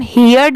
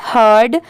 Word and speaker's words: heard: HEARD, इसे हम हियर्ड नहीं पढ़ेंगे, इसकी प्रोनाउंसिएशन है हर्ड।